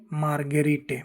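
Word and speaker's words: margherite: यदि जी के बाद आका आता है यानी एच आता है तो जी का उच्चारण ग होता है। चाहे एच के आगे आई तथा ई ही क्यों ना हो।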